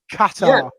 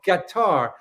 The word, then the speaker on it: Qatar: It's how I pronounce it. It sounds like a musical instrument, but you know what I'm talking about. Qatar. Yeah. Qatar.